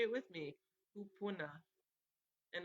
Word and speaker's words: kupuna: So again, that Hawaiian word for your ancestors is kupuna. And you can say it with me, kupuna. And it's spelled Kupuna.